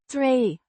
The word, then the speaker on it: tree: Tree Means step or stair. Pronounced tree with a long a sound.